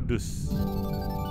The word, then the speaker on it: Daus: Bacanya Daus atau Dus? Daus asli ya.